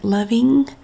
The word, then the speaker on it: Lovin: mark on the f lovin is spelled l apostrophe o v e n like loving but lovin and then we just